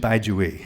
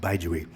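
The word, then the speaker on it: Bai Juyi: And I mentioned Baizhui. It looks like Po Chu-yi, but it's pronounced Baizhui.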